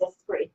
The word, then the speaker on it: Esprit: So Esprit, which she, by the way, made sure that I knew how to pronounce her name. She was like, Jody, excuse me, it's Esprit.